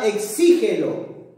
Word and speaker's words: exígelo: Por ejemplo, la palabra exígelo. Exígelo, mira, mira, mira acá. Exígelo ya es una palabra que es una palabra esdrújula, mira, porque la mayor fuerza de voz está en la antepenúltima sílaba, ¿no?